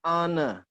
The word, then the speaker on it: honor: And then an honor, ya, the H is silent, ya, H-nya tidak dibaca. An heir, an honor, an hour, ya. H-nya silent.